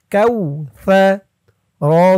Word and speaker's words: كوثر: Calf wow জবর কাউ, সা জবর সা, সার আওয়াজটা নরম হবে। কাউ সা, কাউ সা, সা। জিহ্বার মাথা উপরের দাঁতের মাথার সাথে লাগবে সার উচ্চারণটা করার সময়। কাউ সা। র জবর র, এখানে অক্ফ